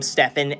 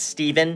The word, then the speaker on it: Stephan: so first of all so many people pronounce my last name stefan as steven go in with the